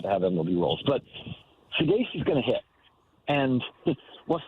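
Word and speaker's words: Saggese: It's Thomas, and I'm going to try to pronounce this last name, Sugasi? Sugasi? Sugasi is, I believe, how it's pronounced.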